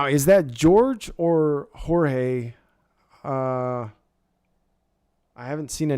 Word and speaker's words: Jorge: not pronouncing it wrong oh so it's Jorge is that right spelling it the same way it's spelled doesn't help okay all right so it is Jorge gotcha well congratulations Jorge